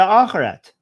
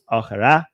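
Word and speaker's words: آخرة: Again, focusing on dunya over the akhirat. I mean, Persians say akhirat, they say akhirah. They don't pronounce the T. Dunya over the akhirah.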